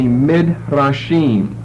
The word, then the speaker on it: Midrashim: So tonight we're going to take as our topic the Midrashim, M-I-D-R-A-S-H-I-M. You're accustomed to hearing Hebrew pronunciation, so you could probably spell that yourself.